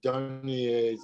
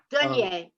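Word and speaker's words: Dunye: if you're interested in that whole subject, you should see Cheryl Dunier's, I don't know how she pronounced her name.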